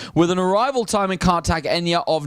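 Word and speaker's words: Cartagena: you say it yeah some people call it cartag Ena uh but she of course was the lady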